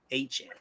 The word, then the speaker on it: Achane: I gotta make sure I pronounce it properly. Achane.